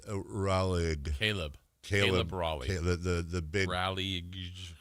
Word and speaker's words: Raleigh: It's Raleigh. Caleb Raleigh. The big Raleigh. The big Forrest Gumper. It's pronounced.